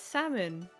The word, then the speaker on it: salmon: a Canadian thing yeah it's salmon the L is silent no tell me what